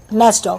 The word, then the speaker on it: NASSDOC: NASDOC. How do you spell it?